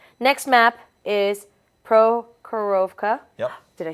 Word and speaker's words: Prokhorovka: Like you said, next map is Prokhorovka.